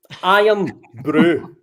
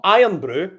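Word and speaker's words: Irn-Bru: said right so right this is pronounced i am brew right not iron brew because any english people i speak to are like are you drinking some iron brew no it's no iron brew it's i am no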